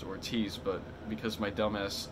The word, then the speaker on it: Ortiz: Anyway, Jessica Ortiz, who, I only know how to pronounce the name, not because of, like, intuition saying that it's pronounced Ortiz, but because my dumbass, like, had to look